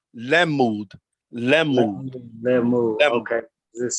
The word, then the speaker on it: lamud: Okay, so that is pronounced lemud.